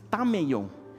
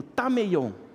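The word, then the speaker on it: ταμεῖον: Essa palavra lugar, que as traduções, a maioria traduziu como quarto, é uma palavrinha grega que se pronuncia tameion. Então repete comigo, tameion.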